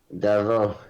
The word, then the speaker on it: Davout: Well, Davo, is that French? Is that why the T's not pronounced?